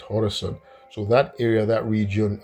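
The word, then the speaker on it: Khorasan: it Persians call it Horus right but from the way we spell it in English coron um I guess I'll call it hor you know it sounds good the way Iranians call it horerson so that area that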